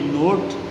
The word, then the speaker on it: knot: एक टर्म आती है नोट, KNOT, नोट, जिसमें K साइलेंट होता है, KNOT, नोट।